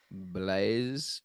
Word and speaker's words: Blaise: okay it's from blaz Pascal how do we pronounce that name Blaze Blaze BL BL a French mathematician and philosopher